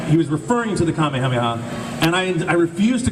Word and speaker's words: kamehameha: saying it wrong and i want to say it like it's intended in japanese right so i'm kind